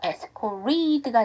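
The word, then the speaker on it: escorted: 자 에스코트에다가 2기가 붙었네요 에스코티드죠 그리고 알사운드가 여기가 정확하게 발음이 안 되기 때문에 티 사운드가 뭔가 몸살 껴요 그러면 한 번 더 약화해서 에스코티드에서 에스코 리드가 되는데 뒤에가 2가 나왔죠 기어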